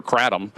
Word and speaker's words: kratom: And my concern is that's the actual concern of either Kratom, which how you pronounce it, or Kratom, how the rest of you pronounced it.